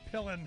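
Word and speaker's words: Pillen: Nebraska a guy named Jim pillan I think it's how I pronounced it pelen p i l l n evidently signed an executive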